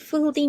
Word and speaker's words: filthy: Filthy, filthy means very dirty as an extreme adjective. So we have two syllables and then we will put the stress on the first one.